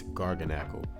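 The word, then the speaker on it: Garganacl: When you see it, you're probably not going to be able to pronounce it, but I just pronounced it for you. It's Gargonal.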